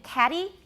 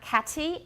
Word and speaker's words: caddy: many younger british speakers the tea in caddy is not cathy it's it's a tap right short d that cannot be lengthened caddy and by the